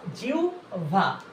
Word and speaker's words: জিহ্বা: অধি জিউভা অধি জিহভা এর সদীপ উচ্চারণ কি বলবো জিহ্বা না কিন্তু জিহভা জিউভা তাহলে অধিউভা স্বর